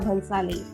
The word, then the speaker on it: Bhansali: my youtube videos i okay like how to pronounce his name sanjay lila bonsali sanjay lila bhansali yeah you know he's a very famous famous